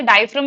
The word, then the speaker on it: diaphragm: Diaphragm is how we pronounce it. The G is silent.